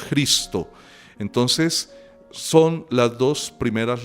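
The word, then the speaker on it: Χριστός: letra J nuestra, porque en griego no se dice Cristo, sino Cristo, ¿sí? Como si fuera con una J, Cristo.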